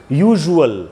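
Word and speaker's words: usual: और जो यूए एएल का जो कॉम्बिनेशन है उसके एग्जांपल्स है जैसे यूजुअल तो यहां पर भी वही रूल है कि एस यू एल का कॉम्बिनेशन है उसके पहले एक वोवेल है।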